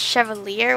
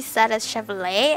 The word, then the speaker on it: Chevalier: told me they're like just pronounce the first one a said which is Chevalier which is a car but when I google pronounced it it's supposed to be sad as she lay I don't know it